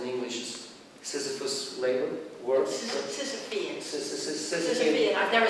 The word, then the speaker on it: Sisyphean: is, correct me, I don't know how you pronounce it in English, Sisyphus labor work. Sisyphean. Sisyphean. I've never said it out loud myself either. Sisyphean. Yeah, it's Sisyphean.